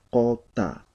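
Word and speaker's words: quta: Lo mismo en este caso, esta U está después de la Q, por lo tanto va a cambiar. La pronunciación correcta va a ser cota, ¿ya?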